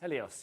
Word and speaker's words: Helios: I'm saying that right the sun Helios helos Helios yeah helos helos that's I'm saying it right